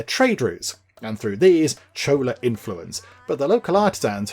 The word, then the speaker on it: Chola: think it is pronounced Chola I think that's how you say I was pondering last time Cola or Chola or something I think it's Chola as the sun rises